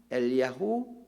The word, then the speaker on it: 엘리야후: 그의 이름 뜻을 보겠습니다 엘리야는 말에 정확한 히브리식 발음은 엘리야후 혹은 엘리야 회입니다 엘리야라이 단어를 보면 어